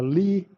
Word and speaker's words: Lie: way to treat the rotations so it's a Lee kinematics or actually it's a Le mathematics but